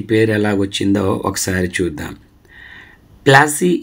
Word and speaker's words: Plassey: Did you know how Plassey got its name? Plassey అనేటువంటి దానికి పేరు ఎలా వచ్చిందో ఒకసారి చూద్దాం. Plassey is an anglicized pronunciation of Palasi, and the place derived